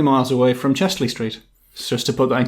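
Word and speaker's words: Chester-le-Street: It's a town, but it's called Chesley Street. It's spelt Chester Le Street. Ah, yes. Chester, the street, French. Yeah. But we all say Chesley Street. Twice as confusing as you could be.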